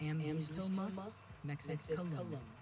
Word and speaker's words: Ambystoma mexicanum: Ambystoma mexicanum is pronounced Ambystoma mexicanum.